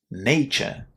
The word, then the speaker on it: nature: And pay attention to that a in the first syllable there because it's also a common mistake for learners of English not to pronounce it the way it should be as a nature.